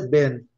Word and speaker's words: been: Been, A pronúncia é ben, tá? Depois nós vamos ver isso.